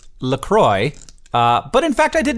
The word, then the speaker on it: LaCroix: And they say on the website, it says right there, it's pronounced LaCroix, like enjoy.